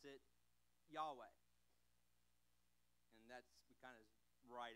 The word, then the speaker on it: Yahweh: now in the Hebrew name for God we pronounce it Yahweh and that's kind of bright it how spell